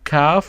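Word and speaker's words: كاف: And then we have kaf, which is the K in English. K. We spell it also like K. And this is how we write it. Okay? So again, we do it like that. And we have this small sign on it. It's called kaf, and we spell it like K.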